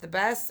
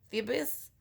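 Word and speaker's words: Thebes: was going through Sparta I think it's pronounced the best or Phoebus t-h-e BES and then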